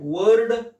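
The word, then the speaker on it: word: इसमें र का उच्चारण नहीं होगा, कैसा बोला जाएगा वर्ड, कैसा बोला जाएगा वर्ड, वर्ड, वर्ड, यानी यहाँ पर र का उच्चारण नहीं किया जाएगा।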